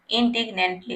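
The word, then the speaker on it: indignantly: ठीक है, इसको आपको प्रोनाउंस करना सही से आना चाहिए। पहले आपको पढ़ना है इन, उसके बाद डिग्नेंटली, इंडिग्नेंटली।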